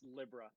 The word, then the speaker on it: Libra: In the Japanese they call it Libra, but well, it's written Libra, but it's pronounced Libra, which makes me just mad.